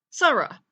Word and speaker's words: Sara: arts sin comets race comets hey ha ha Sara now you may notice that the dot at